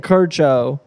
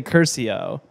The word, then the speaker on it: Curcio: They're saying Curcio. I would say Curcio. How's it spelled? C-U-R-C-I-O. Oh, Curcio. Curcio.